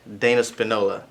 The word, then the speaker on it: Dana Spinola: to introduce to you the founder of fabric dana Spinola you said it right yes are you doing